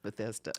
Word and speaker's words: Bethesda: so I it's in Maryland right uhhuh it's Bethesda that's how you pronounce it Bethesda bethesa bethesa Sor last year and this year